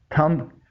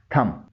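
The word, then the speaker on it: thumb: इसे आमतौर पर थंब पढ़ते हैं, जो गलत प्रोनंसिएशन है। इसमें भी बी साइलेंट है। इसकी सही प्रोनंसिएशन है थम।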